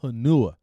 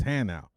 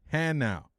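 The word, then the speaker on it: Hanau: bus left two hours ago and it's not hanua it's Han out I'm like no that freaking thing says hanu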